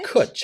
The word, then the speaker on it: cwtch: language in Wales, and it's called cwtch. Oh man, all Kutch. this spelling, Kutch. seriously. And it's spelled CWTCH, a very weird spelling collection here. Yeah. Kutch, and it's really isn't it a really cute word?